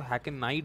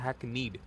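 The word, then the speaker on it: hackneyed: आपको इस वर्ड का ध्यान देना पड़ेगा, ध्यान देना चाहिए, क्योंकि मैंने काफ़ी लोगों को सुना है इसको हैकनाइड बोलते हैं, क्योंकि EYE आ रहा है, तो हैकनाइड नहीं होगा, इसका प्रोनाउंसिएशन होता है हैकनीड, और स्टेल है इसका सिनोनिम।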